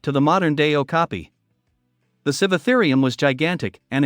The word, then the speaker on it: Sivatherium: A Sivatherium, pronounced Sivatherium, was a kind of dinosaur that roamed